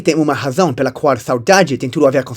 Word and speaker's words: saudade: E descobri que tem uma razão pela qual saudade tem tudo a ver com solidão. A palavra nem sempre foi pronunciada desse jeito. Antes se pronunciava soidade, pelo menos era assim